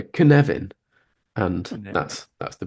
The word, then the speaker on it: Cynefin: looks like it says copin orop something like that yeah but you pronounce it it's it's like Kevin but you've got a little sort stutter so you go canevin and that's that's the